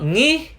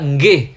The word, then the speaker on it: nggih: Not ngih, but nggih. You need to pronounce the g in the middle.